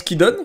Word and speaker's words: Kidon: Bon, finalement ça se prononce Kidon.